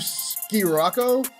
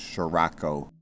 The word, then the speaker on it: Scirocco: The VW ski-rocko? Sick-oreo? It’s pronounced Sher-ako. Ok, but I don’t see any h’s.